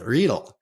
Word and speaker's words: Riedel: Today, we've got Sebastian Riedel here. Did I say that right, Sebastian? Yeah, that's good.